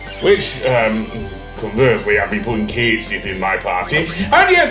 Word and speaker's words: Cait Sith: Which conversely I've been putting Cait Sith in MY PARTY. AND YES, I WILL PRONOUNCE IT CAIT Sith and not Cait Sith. Seriously, Cait Sith? I am not Irish nor am I Scottish.